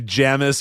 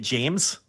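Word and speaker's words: Jammes: He was Jamis at that time, sir. They weren't pronouncing it James? Maybe they were. It had two M's.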